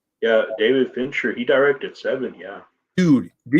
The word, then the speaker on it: Fincher: his favorite director I could be saying his name wrong is it David Finch Fincher finkner yeah David Fincher he directed Seven yeah dude this dude listen